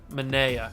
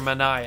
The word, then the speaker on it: Manaea: What can we get for Sean Manaea, or Manaea, however you want to say his name? It's either way.